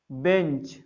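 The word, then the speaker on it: bench: फिर अगला बेंच, बी ई एन सी एच, चा पढ़ा तो ई एस जोड़ दें, बेंचीज।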